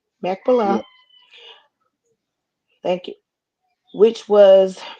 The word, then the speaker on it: Machpelah: And the field of Ephron, which was, I'm sorry, can you help me pronounce that word again? Machpelah. Machpelah.